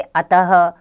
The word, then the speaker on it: अतः: प्रयोग कर रहे हैं विसर्ग इसका उच्चारण ह की तरह होता है इसका चिन्ह दो बिंदियां के रूप में लिखा जाता है जो वर्ण के बाद लगाई जाती है जैसे अतः प्रातः नमः आदि हिंदी भाषा में